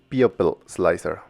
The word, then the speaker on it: Pupil Slicer: Fe de ratas, creo que la pronunciación correcta siempre ha sido Popil Slicer.